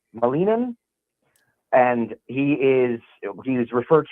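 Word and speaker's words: Ilia Malinin: to butcher it, but I believe it's pronounced Ilia Molini. Molinan and he is he's referred to as the quote unquote quad god.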